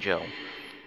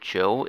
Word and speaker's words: Job: Mickey and Joe. I don't know why he's called Joe if, like, his name is literally spelled Job, but they pronounce it as Joe.